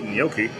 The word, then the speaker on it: gnocchi: So we got the gnocchi. Gnocchi, yeah? Yeah. The G is silent. It's like pterodactyl, but the P.